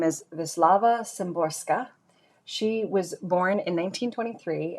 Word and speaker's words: Wisława Szymborska: Yeah, pronounced Wisława Szymborska.